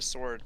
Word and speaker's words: sword: The W is silent. Is it? I may swing a sword, but I don't sing a sword.